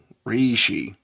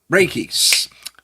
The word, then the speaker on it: Reiki: had on who talked about, uh, re uh, Reishi, energy healing, that type of thing. Raiki, thank you.